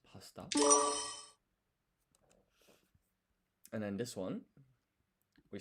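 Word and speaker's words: パスタ: So you don't pronounce the U in su. It's pasta.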